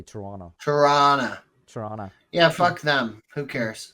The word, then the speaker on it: Toronto: pronounce t in the SEC in the second syllable you say Toronto toron Toronto yeah them who cares I I say Toronto okay I'm not from Toronto you're not from